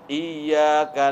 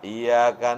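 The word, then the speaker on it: إياك: tasdidatan atau tasdidnya misalnya dia baca harusnya iyyaka na'budu wa I kan ada tasdid tuh dia bacanya iyaka na'budu wa iyaka nasta'in berarti menghilangkan H tasdid menghilangkan huruf karena setiap huruf yang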